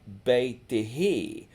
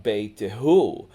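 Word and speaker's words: بيتِهِ: So we say fi baytiha, in her house, but wara baytihi, not wara baytihu, like you would think about saying.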